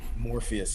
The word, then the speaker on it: Morpheus: You got to say it right. Morpheus, that's right.